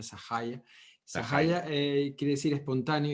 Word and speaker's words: Sahaja: sería en castellano pero como viene el término en sánscrito se pronuncia esa calle sahaja quiere decir espontáneo y